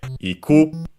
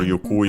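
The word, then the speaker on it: 行く: So we would use tsuite iku, or yuku if you it's the other pronunciation, but the meaning doesn't change.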